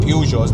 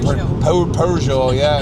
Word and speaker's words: Peugeot: I think Peugeot is the French way of saying it. I think that's the French pronunciation, and then obviously Jeremy Clarkson calls it like a Peugeot, yeah.